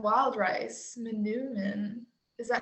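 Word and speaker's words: manoomin: next question um oh tara said wild rice manumin is that how you pronounce it tara yeah and elk and then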